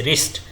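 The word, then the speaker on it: wrist: यह साइलेंट होता है जैसे रिस्ट इसमें हम डब्लू बोलते ही नहीं है तो इस तरह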